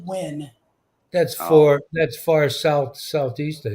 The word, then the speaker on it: Wynne: Winnie, Arkansas. WYNNE. I'm watching. Northeast of Little Rock, it looked like. Yeah, we pronounce it Win.